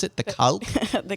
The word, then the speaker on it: Kalk: Is that how we pronounce it? The Kalk? The Calc, yeah.